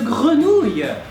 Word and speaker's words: grenouille: So the first part, gre, is pronounced like gru if you were a zombie.